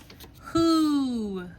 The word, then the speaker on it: who: What's going on with this word? I see I have two hearts. I have to know this part by heart. All right. All of my letters actually get a heart this time.